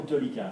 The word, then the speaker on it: délicat: Did you say délicat or délicat? Délicat. Good. It needs to be délicat.